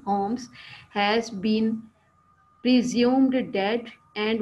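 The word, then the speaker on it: Holmes: होम्स, एल इसमें silent है, अभी हमने इसकी प्रोनाउंसिएशन देखी, होल्म्स नहीं, होम्स, has been presumed dead and Watson has moved on his with his wife.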